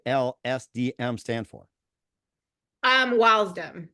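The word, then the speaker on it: W.I.L.S.D.M.: DM stand for um wdom that's how you pronounce this wdom okay all right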